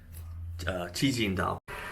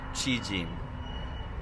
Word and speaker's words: Cijin: Today we're headed to Cijin and for some reason it's spelled like Ci j i n and it's because they used to use tongyong in Taiwan.